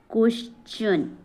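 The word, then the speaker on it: question: आर ई आई तो टी का उच्चारण च हो जाता है क्या हो जाता है च जैसे यहां पे है क्वेश्चन क्वेन क्वेश्चन ऐसा ना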